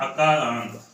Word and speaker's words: अकारांत: अगर इसको हम ऐसे पढ़ेंगे तो इसका सही उच्चारण नहीं मानेगा। इसको हम पढ़ेंगे अकारांत।